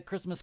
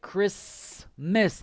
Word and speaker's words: Christmas: the pronunciation is like chris miss the t is silence okay the t is silent christmas just so you